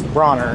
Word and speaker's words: Bronner: called him that, but I didn't see the R. Yeah. But it was B-O, so I thought it was B-O-N-E-R, but it's Bronner instead of yeah, Bonner. Yeah.